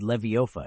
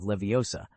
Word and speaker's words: Leviosa: No slurring or muddling or you'll end up like Barufio who said Levioa instead of Leviosa and wound up flat on his back with a rather disgruntled bison grazing on his chest.